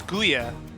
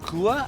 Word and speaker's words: Gua: I talked to one of my favorite names to speak, and I pronounced it as Guya before, and he told me it's Gua, I believe.